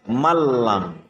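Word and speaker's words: مَنْ لَمْ: bertemu dengan huruf lam tulisannya tertulis Man lam tertulis Man Unlam terus membacanya adalah malam ke lagi tertulis Man lam tetapi membacanya adalah menjadi malam yang kedua tulisannya Meme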